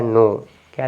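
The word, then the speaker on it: knock: गया तो आप पढ़ेंगे नॉक के साइलेंट नाइफ यहां पर के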